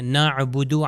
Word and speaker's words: نعبد: ہم عبادت کرتے ہیں، نعبدو عین سے۔ اگر اس کو حمزہ سے یا الف سے تلفظ کر دیا جائے، عین کا تلفظ نہ ہو، نعبدو، تو اس کا مطلب ہو جائے گا ابد سے ہو جائے گا، یعنی ہمیشہ ہم لوگ رہیں گے۔ آپ دیکھ رہے ہیں